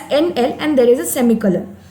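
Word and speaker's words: endl: see out hello world and then NL okay we pronounce it as NL and there is a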